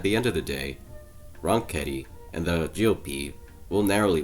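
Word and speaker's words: Ronchetti: against uh mark ronketi so i i say wrong kitty because that's how he pronounces so uh for the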